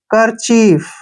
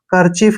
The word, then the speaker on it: kerchief: उच्चारण कै करते हैं, ER को रे पढ़ते हैं, CH को च पढ़ते हैं, IE को बड़ी की मात्रा, F को फ पढ़ेंगे। करचीफ, करचीफ क्या होता है, रुमाल